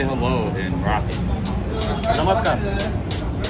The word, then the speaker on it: Namaskar: Namaskar. Namastar.